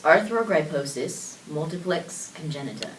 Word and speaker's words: Arthrogryposis multiplex congenita: So it's Arthrogryposis, multiplex congenita.